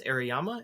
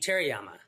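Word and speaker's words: Terayama: uh how you pronounce aryama is that how you pronounce it aryama no no no who did who did throw away your books rallying this oh shuji terama terama okay forgot the T those guys and the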